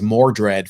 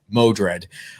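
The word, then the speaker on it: Modred: of moderate the mystic which i mispronounced as more dread for i think uh you know it's before i finally actually saw that it was moderate uh there was some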